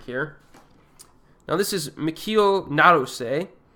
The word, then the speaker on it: Naruse: It's got to be Naruse. So I'm now correcting my pronunciation.